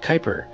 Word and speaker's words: Kuiper: started a division within the company called project Kyper and yes that is how you pronounce it okay I looked it up Kyper systems is an ambitious subsidiary within Amazon that